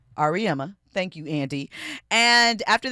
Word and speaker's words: Auriemma: I do not know how to pronounce his last name. I always jack it up. Auriemma. Auriemma.